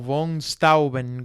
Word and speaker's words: von Steuben: el barón von Steuben, o von Steuben, como se pronuncia, el alemán es un idioma bastante difícil, quien era un general